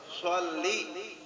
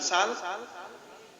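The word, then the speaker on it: صلِّ: Orang bacanya Allahumma shol. Ini latih bibir saya. Allahumma sholli. Ini nak ke bawah. Sholli. Yang baca Allahumma Allahumma orang sholli bukan sal, lain pahalanya.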